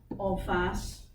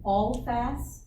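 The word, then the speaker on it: en face: all fast? Like, how do you spell it? E-N, F-A-C-E. It's French. E-N is two words. E-N and then F-A-C-E.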